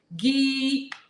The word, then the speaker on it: Guillaume: Guillaume. All right, you guys. It's time to sing the theme song. Back this up a little bit. Guillaume. You ready to sing the theme song? Guillaume.